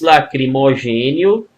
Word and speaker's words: lacrimogêneo: Gás lacrimogêneo. Opa! Lacrimogêneo. Mesma coisa, ó, de contemporâneo. Mesma coisa, estou exagerando aqui na pronúncia, obviamente, né? Estou exagerando aqui na pronúncia, né? É EO, tá?